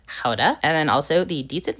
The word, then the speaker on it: Gouda: Today we'll be using up the last of this Beamster Guda or better said Koda.